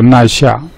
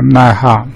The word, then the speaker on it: 奈下: 那么第二个就是奈哈啊，这个普通话发音是奈下，客家话是奈哈。